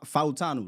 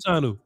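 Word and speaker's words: Fautanu: I promise you br I looked it up bonu F fanu that's that's how somebody said it put it that way fanu yeah fanu that makes sense pull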